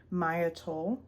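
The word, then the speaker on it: Maia Toll: shout out the author, Maya Toll. Not sure if that's how you say her name, M-A-I-A, Toll, T-O-L-L.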